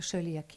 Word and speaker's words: Coeliac: are intolerant to gluten phonetically written see-lee-ack disease The name Coeliac disease